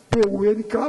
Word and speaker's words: punk: O negócio agora, eu pronuncio as palavras do jeito que eu vejo escrito. O negócio agora é o punk e o funk. Ele disse punk e funk, mas escreve-se P-U-N-K, para mim é punk.